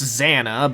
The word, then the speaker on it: XANA: Technically, it's pronounced Xana, but Zana sounds wait.